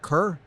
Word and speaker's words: Kerr: speech Steve K Steve Kerr I know how to pronounce it third time we corrected you I it's spelled with an E it's fonetic to me but like they gave